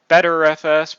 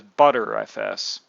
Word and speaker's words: Btrfs: You can use BTRFS, pronounced by some as BetterFS, pronounced by others as ButterFS. Nobody's entirely sure how to pronounce it.